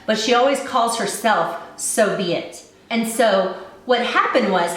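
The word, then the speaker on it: So B. It: by Sarah weeks and it's called so be it but it's spelled s.o.b period aighty like someone's name with a middle initial this one is a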